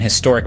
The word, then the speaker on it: historic: was used based on whether the H was silent these days the H is almost always pronounced and using and before